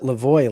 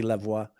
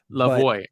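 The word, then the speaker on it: Lavoie: Alfie in French but he pronounces it the American way at least when he's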